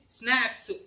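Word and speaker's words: Schnapps: देखो ये actually स्नैप्स, इसका प्रोनाउंसिएशन थोड़ा अलग होता है। स्नैप्स जर्मन प्रोनाउंसिएशन है, ठीक है।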